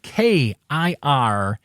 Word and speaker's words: kirana: enough the Wordsmith word for this episode is kirana spelled k-i-r-a-n-a kirana that's how you pronounce it I'm gonna put a link to